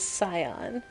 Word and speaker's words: scion: server i love it the pronunciation of scion doesn't use the c okay so it is scion thank you hmm i